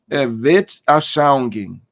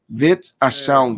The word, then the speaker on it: Weltanschauung: termo que é usado, é um termo alemão, né? E aí eu já vi várias pronúncias. Aí eu coloquei no Google, porque na verdade é uma expressão alemã, Weltanschauung. Weltanschauung. Mas eu vejo também que os que falam aí esse termo alemão falam tudo errado.